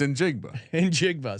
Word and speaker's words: Njigba: It's Njigba.